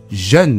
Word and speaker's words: jeune: jeune という発音が少し